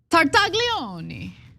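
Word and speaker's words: Tartaglione: By the way, we need to pronounce the um Italian gentleman's name correctly. Okay, it's Tartaglei.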